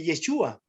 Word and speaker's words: Yeshua: Cuando nosotros unimos Jesucristo, el nombre de Jesús en la expresión hebrea de Yeshua, ¿ya? Entonces, se escribe tal cual, pero al final, antes acá cuando va la S, lleva una H, una U y una A.